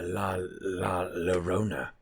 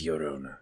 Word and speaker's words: Llorona: Like a La Llorona you hear so much about, but somehow even more offensively white than that pronunciation of that fucking name. It's Llorona, because the double L's.